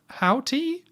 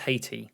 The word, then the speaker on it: Haiti: It's somewhere very hot, and then on screen it comes out Port or Prince in, how do you say this? Houthi? Houthi? I think it's just Haiti. Haiti.